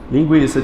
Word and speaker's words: linguiça: linguiça com essa gente linguiça tinha o trema aqui no para dizer que o u era pronunciado para você não dizer